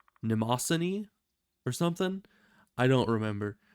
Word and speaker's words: Mnemosyne: think it was like Mnemosyne or something. I don't remember, but I always just say Namosine because it's the M is silent, so then Namo, and